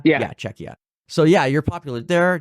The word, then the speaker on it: Czechia: you guys are quite popular Germany is one Chia is another or sorry CIA I can't remember exactly how do you say it czechia yeah czechia so yeah you're popular there Germany and Finland